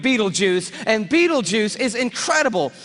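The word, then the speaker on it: Betelgeuse: heard about this star it's called Beetle Gees or be be juice you can pick your pronunciation I'm obviously going with Beetle Juice and Beetle Juice is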